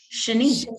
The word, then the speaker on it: Shani: And it's shh, and then point to your knee. And that's how you remember to pronounce my name. Shani.